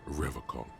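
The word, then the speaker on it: Revachol: He pronounces Revacol Yep. with a hard K, unlike other people. Yeah. I like to pronounce it the hard way. The old way. The Vespertine way. The stupid way.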